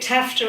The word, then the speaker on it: TAFTA: itself so the t-tip they call it tafta in the U.S rhymes with laughter uh the North American